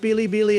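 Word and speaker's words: ビリビリ: Fun fact, the song's title, pronounced Bili Bili in Japanese, is a pun on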